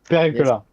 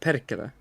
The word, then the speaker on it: Perkele: Pericula. Pericula. So that does it pronounce Pericula? No, it's pronounced Perkele. Perkele. Pedicula. Perkele. Like that? Yeah, it's Perkele. hard to. It's like an Perkele. sound, like Perkele.